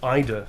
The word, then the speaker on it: Ada: Next up, we have Ada. It's pronounced Ida.